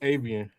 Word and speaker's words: Aven: Uh is it is it Avian or Aven or how do you pronounce it? Uh, it's it's Aven.